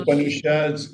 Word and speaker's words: Upanishads: I don't know if I'm pronouncing that The properly. Upanishads, yeah.